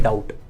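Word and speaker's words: doubt: कर जाते हैं जैसे एक वर्ड है डाउट डाउट ऐसा वर्ड है जिसके अंदर बी आता है लेकिन पता नहीं है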